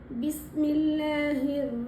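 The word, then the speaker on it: بسم الله: பிஸ்மில்லாஹிர் ரஹ்மானிர் ரஹீம் இந்த சென்டன்ஸ்ல பிஸ்மில்லாஹி இந்த ஹி அடித்தொண்டையில உச்சரிக்க கூடியது. இந்த ஹ மாதிரி சொல்லக்கூடாது இந்த ஹ இந்தஹ இந்த ஹ டிஃபரண்ட் அடித்தொண்டையில ப்ரனௌன்ஸ் பண்ணனும்.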